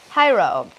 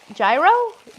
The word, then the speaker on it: gyro: __ ] it uh it's pronounced it like hyro gyro oh huro people who are trying to say it like the Greek way they say huro yeah we just say gyro and I keep citric